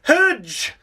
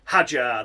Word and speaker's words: Hadjar: up next in Isaac Hudge. Isaac Hudge. That's right, everyone. As per David Cross's illiteracy, it is Isaac Hadjar. That's how you say it.